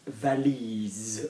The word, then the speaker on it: valise: which is suitcase okay so those of you that have learned the laws with me of pronunciation and spelling can you hear an s or can you hear a zed or somebody once told me can you hear a snake or can you hear an insect Z okay you can